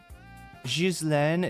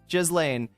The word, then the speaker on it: Ghislaine: Jizlane is the official. Jizlane, uh, is how I, yeah, should be pronouncing it.